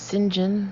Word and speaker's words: St John: by a morning hangover it's pronounced singen the super spy would sadly waggishly explain to those women who mispronounced his surname with the stress falling on sin darkk St John even